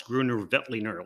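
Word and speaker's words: Grüner Veltliner: beltliner now i'm awfully proud that i can pronounce gruner vetliner like that i was scared of this wine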